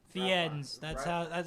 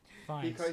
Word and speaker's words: Fiennes: I think it's Ralph Fiennes. Ralph Fiennes. Ralph Fiennes. Ralph Fiennes. That's French. Ralph Fiennes. Fiennes. He says it Fiennes.